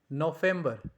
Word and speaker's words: November: November, it sounds like November because V sounds like fow. For example, like Volkswagen. Volkswagen, that means people's car. So over here, it sounds like November.